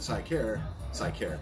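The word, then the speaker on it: Sikar: the concierge at Sycare. I care Cigar. about Sycare. Cigar. That's spelled S, Sierra, India, Kilo, Alpha, Romeo for the military folks across All right. seas. Sycar, S-I-K-A-R.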